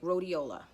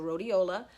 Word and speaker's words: rhodiola: alright so the next herb is called Rolly rhodiola all right so that's another one and I'll spell it for you it's our H Oh D I oh la okay so rhodiola there a lot of them are found at